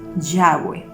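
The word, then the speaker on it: Yahvé: te puedo decir que el más aceptado y el más cercano sí de lo que es el tetra el matrón y las vocales es yagüe entonces es la pronunciación más aceptada que yo te podría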